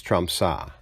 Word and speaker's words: Tromsø: I always pronounce the last O with the slash through it as a long O, but it's really ah, so it's Tromsø.